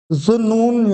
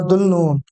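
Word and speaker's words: ذو النون: था वो जुन्नून या दुल्नून। ये अरबिक में इस तरह से पढ़ा जाता है, ये जो इसकी प्रोनाउंसिएशन है जुन्नून, और तकरीबन जो लिखा जाता है हमारे यहाँ वो दुल्नून लिखा जाता है।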